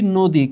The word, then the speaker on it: নদী: পরবর্তী বর্ণের রসীকার রয়েছে এখানে লেখা আছে নদী কিন্তু আমরা পড়ছি নদী কেন এইখানে অ এর পরবর্তী বর্ণের দীর্ঘইকার আছে এখানে আছে অনুরোধ কিন্তু আমরা